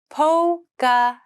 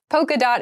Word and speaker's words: polka: polka dot polka dot Poca dot polka dot is another very popular pattern you might notice this POA has an L in it but we don't pronounce it po we say polka dot so polka dot is